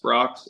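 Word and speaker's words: Brach's: that Brocks is it Brocks or bra BR Brocks yeah get that one you gotta get that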